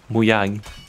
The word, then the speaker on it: Mojang: Yeah, you worked for Mojang, and. Yes. Am I saying it right? How do you say it correctly? Oh, in Swedish, or how a Swede would say it? Mm-hmm. That would be Muyang.